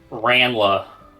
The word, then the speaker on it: Ranla: It's a soft A, not a mean hard one. Ranla.